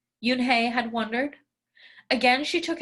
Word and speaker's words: Unhei: Nay, some kids chanted. No, Yoon Hey corrected. It's spelled Unhei. It's pronounced Yoon Hey.